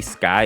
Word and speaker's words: XKY: And while Boyfriend is rapping against Rayna, we actually see Sky in the background, but this version of Sky's name is spelled XKY.